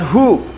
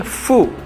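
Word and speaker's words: フ: Nah, ingat di sini ada setelah ha, hi bukan hu ya, tapi fu, dibacanya F U. Jadi fu, kemudian he, kemudian ho.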